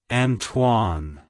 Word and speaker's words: Antoine: pronounced as Anan Anan antoan to pronounce it correctly emphasize that TW sound and soften the uh in the first syllable also stress the N at the end like hello Antoine goodbye Antoine if you found the